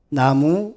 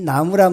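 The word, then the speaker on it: 南無: 그러니까 이건 남쪽 남자의 의미가 아니고, 이 나자를 이 중국 사람들은 이건 난이라고 발음을 해요. 이것을 우라고 발음하거든요. 나누 그런데 실질적으로는 그러면서도 이것은 나무를 나무 이런 식으로 발음을 한다고요.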